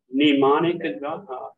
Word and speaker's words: mnemonic: got the word uh mnemonic device yeah yeah that uses it's got an m and an N but we don't in English we don't pronounce the m but the Greeks do and there is another